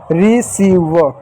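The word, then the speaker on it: receive: ठीक है, अब बचा ई, किसी भी शब्द के अंत में ई आता तो ई साइलेंट होगा, ई साइलेंट है, ई को नहीं लिखते तो हो गया। इसको क्या पढ़ो, इसको पढ़ेंगे रिसीव।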